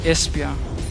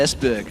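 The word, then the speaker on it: Esbjerg: beautiful beloved Denmark ah espia there you go es yeah it was actually one is that how you pronounced it I I said esberg I do es espia there we go today I learned well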